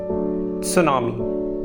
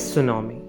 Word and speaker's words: tsunami: T is silent over here.